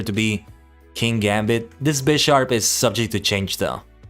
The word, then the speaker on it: Bisharp: be king Gambit this Bisharp is subject to change though and yeah actually I'm pretty sure you pronounce it Bisharp because it's based on a bishop pawniard Bishop King Gambit